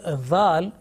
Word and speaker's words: ذال: Okay, now make sure that the letter ذال should be pronounced with thin and soft sound. Many people do a mistake here. They do not make a difference between ذال and ذا, which is a buzzing sound.